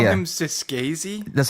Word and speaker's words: Scorsese: Scorsese? Did you Yeah, call yeah. him Scorsese? That's how it's pronounced.